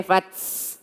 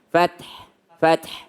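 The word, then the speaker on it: فتح: ta ini wal fath, huruf ta jangan sampai ditambah dengan s. Jangan sampai lagi. Jangan sampai fats, jangan fats, ya. Fath. Jadi anginnya itu alami dari huruf ta, nggak pakai s. Jangan fats, tapi fath.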